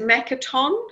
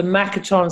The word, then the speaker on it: Makaton: Can you spell, is it Makatom? How do you spell that? No, it's not RDA. It's the Makaton system, Makaton.